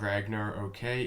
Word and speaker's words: Ragnarok: So anyway, we're looking at Ragnarok. I'm told that's how you say it. It's not Ragnar, okay? It's Ragnarok.